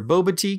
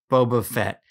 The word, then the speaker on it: Boba Fett: the body and your Boba te comes to life okay Boba Fett see now you got me saying it wrong as you can see